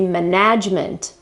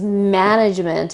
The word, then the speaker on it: management: do you pronounce it the right pronunciation is management and the accent is on the first syllable by all means and